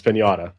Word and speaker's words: Piñata: How do you pronounce it? Pineda. Pinata. Sean, it's piñata. Pinñata.